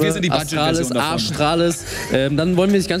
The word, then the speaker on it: Astralis: Arschtrellis? Arschtrallis? Also ich habe den auch vor 10 Minuten erst erfahren, aber ich finde, es ist tatsächlich der beste Teamname. Der wird nämlich Astralis ausgesprochen. Astralis.